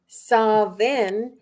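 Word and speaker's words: Samhain: word meaning Summer's end it's pronounced sa in in Ireland sain in Wales saen in Scotland and pumpkin spice in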